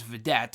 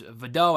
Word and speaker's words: Vidot: I thought it was Vidette or whatever. I forgot how they pronounced it on the show. Cole and Graves on commentary. But Alexa said it was Vidot. I guess it's a French name, whatever.